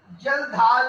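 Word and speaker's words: Kjeldahl: जल ढाल मेथड, इसमें बेटा के साइलेंट होगा, जल ढाल के साइलेंट है, और दूसरे मेथड का नाम है डुमास मेथड।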